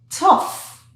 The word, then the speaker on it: tough: Here we have T. There's no H. OUGH. So now we don't have any TH, so the tongue will not go out. So it's just uh. 3 sounds. So let's mark it. Uh. This is the F sound, the F sound here. Tough.